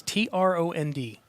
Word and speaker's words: Trond: Norwegian name it's it's TR o ND and it's pronounced in norwegian two normed so good luck alright or in english you'll probably like Trond that's but like my